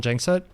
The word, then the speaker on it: Gjengset: So I usually go by Gjengset, which is really just ignore the G's in the surname.